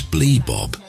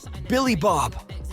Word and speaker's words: Billy Bob: his translator options what my name is ble Bob not some filthy home name it's pronounced Billy Bob the trucker said there